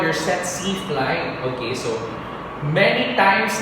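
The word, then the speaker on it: tsetse: search it in um miranda webster so they pronounce it as set c flag set c okay but some pronounces okay all right so both the species can be transmitted by sexy fly but they differ in the species of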